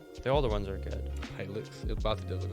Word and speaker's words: Hilux: The Toyota Helix. Hilux? Helix? It's a Hilux.